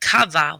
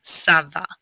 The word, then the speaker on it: ça va: what it does is it turns a hard c or a k sound into a soft c or an s sound so instead of saying kava we're going to say saba so if you ever